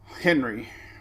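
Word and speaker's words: Henri: a current satellite on henry rhymes with does not rhyme with sandy andre so there's uh there's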